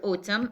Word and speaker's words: Autumn: silent letters silent consonants suppose that we have the word Autumn okay now for the word Autumn as you see we have um this consonant uh letter is um silent okay let's see how